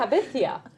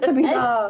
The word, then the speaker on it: Tabitha: Habithia. No, it's Tabitha. Every time I had this stupid substitute, it's Tabithia. No. Tabitha. How can you not pronounce Tabitha correctly?